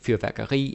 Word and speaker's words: fyrværkeri: Almost every time you have a word that ends with I, like terapi, bageri, slagteri, fyrværkeri, energi, synergi, there's hundreds of those. You put the stress on the I.